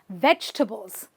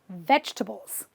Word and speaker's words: vegetable: a vegetable believe me there is no table involved in your vegetables because it's simply a vegetables vegetables this word again a